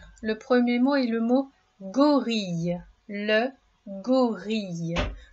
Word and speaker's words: gorille: Le premier mot est le mot gorille. Le gorille. Le son ye dans ce mot s'écrit i deux l.